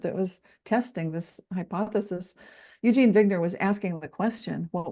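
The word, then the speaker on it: Eugene Wigner: said Bogner vogner bubble Eugene vigner yeah so it's spelled like wigner but I'm pronouncing it the German Way you that's what yeah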